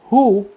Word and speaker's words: who: لكن لو جاء بعد ال WH حرف ال O، في الحالة دي هننطق ال H ومش هننطق ال W، زي كلمة who.